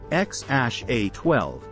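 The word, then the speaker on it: X Æ A-12: They have a son together, named XAA She, pronounced X-A-12, born in 2020.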